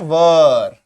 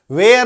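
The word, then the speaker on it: where: My dear friend, and पांचवा है वर। इसका उच्चारण क्या होता है, ये देखो, वर। इसको वर वधु वाला वर भी कह सकते हैं, वर वधु जानते हैं, दूल्हा दुल्हन, है ना, तो वहां से इसको आप याद रखें वर। वेयर नहीं बोलेंगे, वेयर गलत प्रोनाउंसिएशन है, गलत उच्चारण है, वेयर नहीं बोलेंगे।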